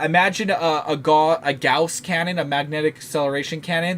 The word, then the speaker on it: Gauss: it's actually properly pronounced i pronounce it gauze where i think it's actually pronounced gauss not sure but magnetic